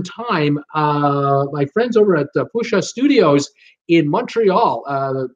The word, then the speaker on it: Pusa: My friends over at Pusha Studios in Montreal. Pusha is spelled P-U-S-A, by the way. Pusha Studios, or Pusha Studios, they pronounce it.